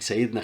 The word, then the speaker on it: Sayyidina: Sayyidina Khalid ibn Walid means our Lord or our Master. All the Prophet and all of his companions, when you mention them, you say Sayyidina, that means our Master.